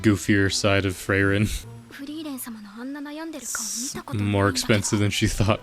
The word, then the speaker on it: Frieren: beautiful also listen I I know it's pronounced frein but I don't know frein sounds better so I'm going to